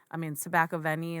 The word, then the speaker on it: Tobacco Vanille: I mean, Tobacco Vanille Tobacco Vanille is how he pronounces it, but men can wear it, women can wear it.